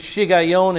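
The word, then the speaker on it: Shiggaion: bibles may not say shigeon it may say um anybody have a different word uh a meditation yeah some bibles say meditation the hebrew word there is shigayon and so many of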